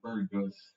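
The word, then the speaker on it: bourgeois: Anyway, during the reign of Louis Philippe, the wealthy Burgoyes, everybody says Burgoyes, Bor, but the R is silent, this Burgoyes, Burgoyes factory owners and bankers were in control of the government.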